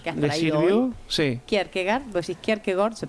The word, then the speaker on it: Kierkegaard: Kierkegaard, vos decís Kierkegaard, se pronuncia así porque...